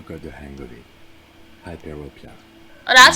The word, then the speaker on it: hyperopia: Hyperopia. Oh, that's how you say it. Out of the ordinary? That's how you say because it's myopia, so I just tap hypermyopia is how I always say it.